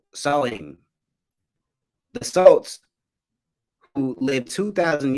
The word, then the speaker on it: Samhain: So here you have Halloween's origins date back to the ancient Celtic festival of Samhain, pronounced Samhain.